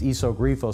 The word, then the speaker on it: Iso Grifo: on the trunk, and they don't realize that an I in Italian is pronounced like a long E, and that it's Iso Grifo, so they inevitably will mispronounce the name of the car.